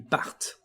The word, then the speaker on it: partent: Again, for this last form, we are going to emphasize the T, ils partent.